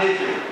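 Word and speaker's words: הבל: Essa palavra vaidade, ela se escreve Hebel, mas se fala Hevel.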